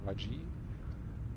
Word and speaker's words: Rayj: mich entschieden den Charakter Martin Ray oder Raji wie richtig ausgesprochen wird neu zu starten ähm